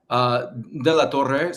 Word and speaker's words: De La Torre: Now, before we go any further, am I pronouncing your last name right, De La Torre? De la Torre.